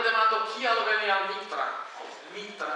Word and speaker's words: Nitra: Nitra en Esperanto, ĝi prononciĝas mole en la slovaka.